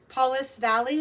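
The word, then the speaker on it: Pauls Valley: you're from oklahoma okay paulus valley is how you say it um so anyway bernice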